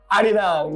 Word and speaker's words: Arirang: Arirang, yes.